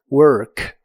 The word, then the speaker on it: work: La OR de esta palabra se pronuncia con la lengua lo más atrás posible y suena como work. work. Puedes hacer ideas como I have to work tomorrow, tengo que trabajar mañana.